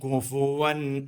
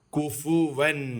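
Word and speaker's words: كُفُوًا: അള്ളാ വഴിയെ പറയാംകുഫ അഹദ് കുഫുവൻ കുഫ് എന്നല്ല ഇവിടെ കുഫ് അഥവാ സുക്കൂൻ അല്ല ഉള്ളത് കുഫുവൻ കുഫുവൻ അഹദ് കുഫുവൻ അഹദ്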